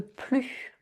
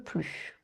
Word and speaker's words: plus: J'en veux plus. Ne pas prononcer le S final pour une négation qui en fait utilise ici la forme contractée de je n'en veux plus. J'ai trop mangé. J'en veux plus.